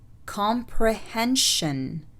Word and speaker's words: comprehension: السلسلة SION تلفظ شن إذا سبقت بحرف ساكن، والحروف الساكنة اللي برضو شرحناها في البداية. Expression. Expression. Mission. Mission. Comprehension.